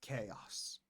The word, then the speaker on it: chaos: Pay attention to the pronunciation. H chaos. I know that because this word exists uh originally in Latin and then in Italian. Maybe some of our French and Italian uh speakers uh learners may have a little bit difficulty with the original American pronunciation of this. It's chaos.